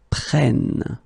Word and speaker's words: prennent: because it's il, elle prennent. Okay, so basically you double the N here and it will give you well, different sound here because you get to open the sound, so it's prêt, prenne.